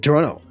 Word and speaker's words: Toronto: said Toronto she didn't she didn't pronounce the second T she just said Toronto and that was something